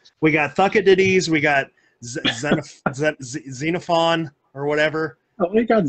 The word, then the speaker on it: Xenophon: it diddies we got xenophon or whatever oh you got xenophon right is that correct i got to change that now wait it's not cenophon xenophone yes it's like xenophon xenophobia damn it okay i